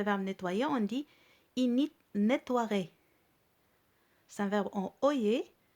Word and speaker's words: nettoierait: Le E ne se prononce pas. Mais il faut l'écrire.